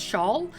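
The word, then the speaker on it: Schaal: for kristen i think her last name is pronounced shawl she played kelly which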